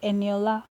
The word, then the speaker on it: Eniola: So say Eniola. Woo! You see, that's vocal coaching right there. All right. You gotta say it like you're singing.